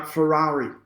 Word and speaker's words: Ferreri: Is that how you pronounce it, Paul Ferrari, or is it Ferreri? No, Ferrari.